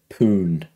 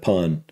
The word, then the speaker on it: Pun: based after this guy he said I got the first name correct Dipper said um but he said poon instead of pun so I just wanted